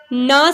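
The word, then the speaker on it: knee: The teacher has shown the diagram of अ नी, ठीक है, ये भी ना साउंड से स्टार्ट हो रहा है वर्ड के यहाँ पे साइलेंट है, ना जो है वो कॉन्सोनेंट साउंड है इसलिए यहाँ पे ए यूज़ हो रहा है।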